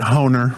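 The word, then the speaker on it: Hoehner: Herald Pointer. Is that how you say it? Pointer. Uh I I I think you say it. Honer.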